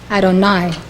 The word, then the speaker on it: Adonai: usually yudhave of hey is pronounced Adonai meaning Lord when associated with Bina it is pronounced Elohim Elohim according to Rabbi green